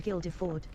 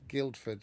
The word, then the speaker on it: Guildford: the Drummond pub in Gilderford. So, it is it is indeed Guildford. It doesn't have an I in it, but um which is why she pronounced it weirdly.